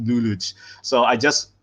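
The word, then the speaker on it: Lelouch: All hell, Patrick Luluch v Britannia.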